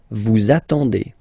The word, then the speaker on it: attendez: Vous attendez, attendez, okay. Let's put here the liaison, the link. Vous attendez, vous attendez, okay.